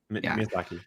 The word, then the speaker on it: Miyazaki: This movie, I don't want to butcher his name, but is it Miyazaki, or how do you pronounce his name? Miyazaki.